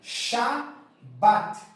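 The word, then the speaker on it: שבת: que você vai pronunciar você vai pronunciar a palavra Shabat Shabat e o que que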